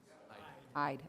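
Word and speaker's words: Eide: And we'd like to also invite Michael Michelson, partner at Ede Bailey, to join us. Am I saying it right, Ede, or is it Ide? Ide, okay. Close enough.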